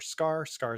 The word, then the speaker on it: Skaar: Scar is spelled SKAAR.